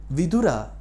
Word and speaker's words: Vidura: So here we come across vidura. Vura vura means wise. Our pronunciation shouldn't be vur. Vura means a widowerower.